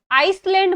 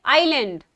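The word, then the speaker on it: island: voters with media flat आइसलैंड मत बोला करो आइसलैंड नहीं होता है ए साइलेंट होगा और हम कहेंगे आईलैंड ओके आईलैंड तो आदमी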